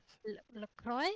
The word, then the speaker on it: LaCroix: LaCroix? I know Willie. Lacroix. That close? LaCroix is how you say that name.